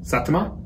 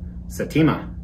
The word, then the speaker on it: Saitama: Saitama? Saitama.